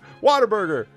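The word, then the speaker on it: Whataburger: It don't sound like water, but everybody says it, especially Texans say it like pop-tart, right? It's just water burger.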